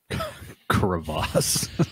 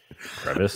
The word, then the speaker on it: crevasse: Crevasse. Do you like that? That's how you say it. Crevasse. Crevice. It's not a crevice.